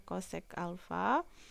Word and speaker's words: kosek: Selanjutnya yaitu kosekan alfa, biasa ditulis CSC seperti ini, bacanya kosek alfa.